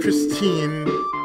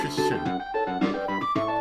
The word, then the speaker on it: Christin: Sometimes pronounced Christine, other times it's Christian.